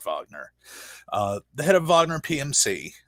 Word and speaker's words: Wagner: It's spelled Wagner, and so my brain always thinks Wagner, but it's pronounced Wagner.